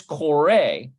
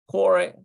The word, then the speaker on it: קורא: Okay, when the aleph is in the third position, it is silent, both at the end of the word. There's kore.